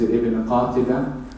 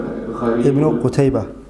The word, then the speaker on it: Ibn Qutaybah: Among those who mentioned these two methods of pronunciation is Ibn Qatibah, in his book, Ibn Qutaybah.